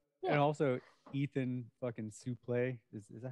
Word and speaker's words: Suplee: and also Ethan fucking Suplee, is that how you pronounce his last name? Suplee? I had to sneeze. Sorry. Suplee, That's good.